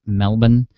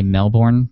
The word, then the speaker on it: Melbourne: of you who are in the us it's pronounced melbourne they make funny view if you say melbourne like i used to do i was corrected